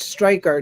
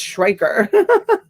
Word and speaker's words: Schreiker: Striker. No, it's Schreiker.